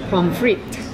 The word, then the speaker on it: pommes frites: How do you pronounce those French fries? Do you remember? Oh, tell me. Pommes frites.